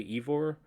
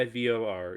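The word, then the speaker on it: Eivor: name of the character I'm gonna try to say it correctly Eve or I think it's supposed to be like you're but Norse and not sad like Winnie the Pooh but yeah Eve or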